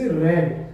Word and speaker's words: read: यहां पे क्या बना इसका structure, the book is रेड, READ, form वही रहेगी, उच्चारण थोड़ा चेंज हो जाएगा, द बुक इज रेड।